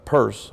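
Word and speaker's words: Peirce: pluralism from sorry from an American philosopher Charles purse I know it looks like it's no Pierce but he actually pronounced at first who claimed that science is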